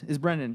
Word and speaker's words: Brandyn: We got about 30 minutes, so we're going to chat with Brandyn about his Brandyn, right? I'm not pronouncing it wrong.